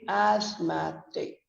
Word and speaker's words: asthmatic: c as math take again the letters th are silent but the stroke the but but the word stress is different the stress moves from the first syllable to the second so we say asthmatic he is an asthmatic